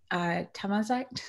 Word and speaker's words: Tamazight: And you did almost pronounce it correctly. It's Tamazight.